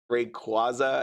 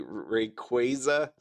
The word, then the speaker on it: Rayquaza: the Ray Rayquaza as some people pronounce it. It was actually said to be Rayquaza.